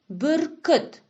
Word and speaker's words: бүркіт: Обратите внимание на произношение казахских специфических звуков. Давайте попробуем вместе их произнести. А теперь произнесем вместе. Мынау бүркіт.